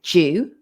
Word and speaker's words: do you: it's very unnatural and the do you we push together and we say jew so what do what